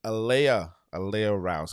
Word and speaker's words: Aleighia Rouse: It's Aleighia Rouse, correct?